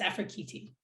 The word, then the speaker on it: Afrekete: And then I had to research how to say Afrekete because it looks like Afrekete. And I'd been saying Afrekete for 30 years or something, but it's Afrekete.